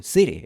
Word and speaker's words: city: Ahora, pronuncia varias veces la palabra city con acento estadounidense. Concéntrate en la transcripción fonética de la palabra que estás viendo en pantalla. City, city, city, city, city. No dejes de pronunciar la palabra city con acento estadounidense. No pronuncies city. Esa es la pronunciación británica.